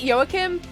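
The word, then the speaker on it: Joachim: Yim I pronounce it yoakim um it is spelled with a J so it could be Joakim I say yoakim because seen as he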